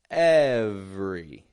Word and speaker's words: every: Every. Every. And note, by the way, how I'm not saying every, but every. Kind of dropping that E that's in the middle right out of the word.